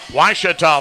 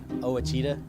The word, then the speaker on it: Ouachita: quarter our score washita 35 southern arkansas 7 washita football 2021 presented by visit hot springs continues in 30 seconds here on the ouachita football network i've heard people say oh a cheetah oh wish tall oh a cheetah is it